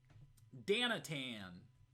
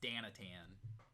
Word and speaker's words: Danatan: the comforts of home danatan that's that's how we pronounce her name now it's danatan no dana only dana danatan yeah if you're uh